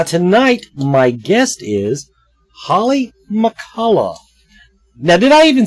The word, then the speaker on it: McCullough: I'm always worried when I get into these possibly silent letters like fall at the end of McCullough, and I said she could want McCulloch.